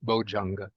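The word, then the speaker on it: bojjhanga: So in the spoken dialects, then the dya gets changed into ja, so it becomes bojanga.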